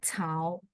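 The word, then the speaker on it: 草: itu ada hubungan contoh rumput ini bacanya cau artinya rumput ini namanya cau eh cya saya tulis di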